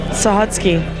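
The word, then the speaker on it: Sahutske: the waitress from hell what's your name sah hutsky say say it again sah hutsky can you spell that for us yeah go ahead s a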